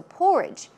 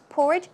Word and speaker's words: porridge: a few days right so porridge porridge stress goes on the first syllable and some other words